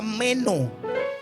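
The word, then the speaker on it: μένω: Mire, ¿sabe que permanecer es la palabra hebrea que se pronuncia meno?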